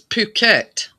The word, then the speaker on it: Phuket: It's Phuket, is it? Yeah. The H is silent.